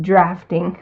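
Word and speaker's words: draughting: The drafting, pronounced drafting, so that in case someone doesn't know the British spelling, that's funny.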